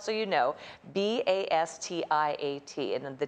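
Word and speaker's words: Bastiat: spelled so you know b-a-s-t-i-a-t and the t the final t is kind of soft kind of bastia yeah i go back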